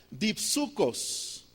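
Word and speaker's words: δίψυχος: La palabra doble ánimo, hermanos, en en griego se pronuncia dipsucos.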